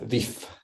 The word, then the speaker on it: vif: Et le regard Robine, le regard par exemple expressivecieux et vi et avec un F. Vif. Vif. Vif. Oui, très bien. Donc il faut prononcer le F ici.